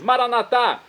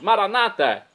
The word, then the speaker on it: Maranata: Como dizemos nós católicos, Maranatá, ou como dizem nossos irmãos separados, Maranata. Não importa a pronúncia, o significado é o mesmo.